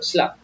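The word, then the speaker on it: slurp: ये आर जो है ना थोड़ा साइलेंट रहता है इसमें। बोल के देखो, स्लप।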